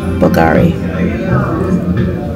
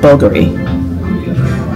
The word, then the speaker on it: Bulgari: Bam serpenti from uh Bulgari or is it bulgary you can pronounce it any your ways it depends on which region you come from so bulgary bulgary yeah